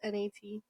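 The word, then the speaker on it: gnat: Although my whole life I thought now it's spelled N A T.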